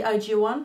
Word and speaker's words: IZ*ONE: sense but anyways and it's apparently IG one that's apparently how you pronounce the name which is kind of frustrating because it's not how it's written I feel like a